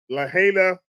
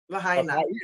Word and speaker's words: Lahaina: In Lahaina, Maui, in Hawaii. Lahaina, as they say.